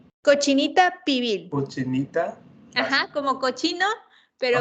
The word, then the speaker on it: cochinita pibil: La cochinita pibil también es uno de los platillos más conocidos, ¿Cómo que se es pronuncia? cochinita pibil.